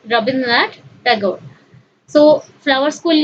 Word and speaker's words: Rabindranath Tagore: So, Rabindranath Tagore ku ame Odia re koithau Rabindranath Tagore, but we should pronounce it in English as Rabindranath Tagore.